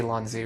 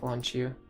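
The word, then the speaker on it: Lon'qu: Even though the way it's written, you would think that the Q would be pronounced with like a chi sound, like Lonchu. But his phonetic katakana name is actually Ranku, which means Lonku is actually probably the most accurate.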